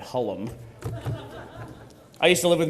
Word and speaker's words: Hullum: And, of course, you know him as the lovable Sarge and the not-so-lovable Doc, Mr. Matt Holman. Holman. That was, of course, the French pronunciation of Matt Hullum.